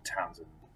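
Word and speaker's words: Townshend: programs uh that's t-o-w-n-s-h-e-n-d the h is silent so you pronounce it townsend the townsend programs were an attempt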